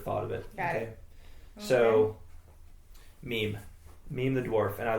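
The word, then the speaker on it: Mîm: so and you were right yeah it is meme yeah somebody needs to start a meme about how you pronounce meme's name I was wondering how we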